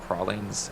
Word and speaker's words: pralines: And, Honestly, bro, they're pronounced pralines.